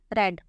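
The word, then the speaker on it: read: form भी होती है रेड रीड की तीनों फॉर्म्स के स्पेलिंग सेम होते हैं आर ई ए डी लेकिन सेकंड और थर्ड फॉर्म को पढ़ते रेड है यू रेड अब पास्ट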